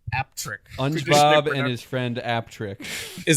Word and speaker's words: Appletreewick: Traditionally pronounced apt trick. you. Aptric. Apple tree. Wick. Three words. Traditionally traditionally pronounced aptric and his friend Aptrick is a village